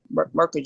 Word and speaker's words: Mukherjee: to say so much dr um mercury is that how you pronounce it yeah okay you can you